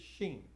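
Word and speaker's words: שׁ: that tells you whether to pronounce it as a sin or a sheen. And if it's on the left, it's sin. If it's on the right, it's sheen. So you pronounce it like sh if it's on the right, or s on the left.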